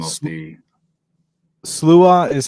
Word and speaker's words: Sluagh: is it volume one the name of the SLA is how it's supposed to be pronounced right but when we used it as a band name we just said SLO SLO right so so sler or SLO volume